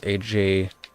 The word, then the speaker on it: AJWAGER: My username on there is AJWAGER. It's pronounced Ajwager.